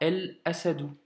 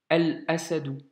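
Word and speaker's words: الأسد: Et par conséquent, la Hamza, tu vois, elle n'a pas de shedda. Donc on dira El Asadou, tu vois. Et pas As, ou ça peut même pas se prononcer en plus, un blocage doublé d'ailleurs. Donc ici, El Asadou.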